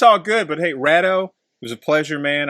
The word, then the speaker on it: Raddeaux: Raddeaux, because you know my wife's like, well, maybe he pronounces it radio. I'm like, no. It's me and my wife